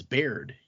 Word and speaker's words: Baird: My name's Baird.